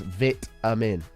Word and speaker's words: vitamin: It's V-I-T, or the same as B-I-T, which is bit, or other known as vitamin.